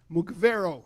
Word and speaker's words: Mugavero: And and the third member is Nat Mugavero. Mugavero. Mugavero. Mugave so it's Mugavero. Tell him I'm sorry that I put the accent on the wrong syllable, please.